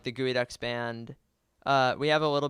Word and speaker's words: Geoducks: We're just under like the Geoducks band.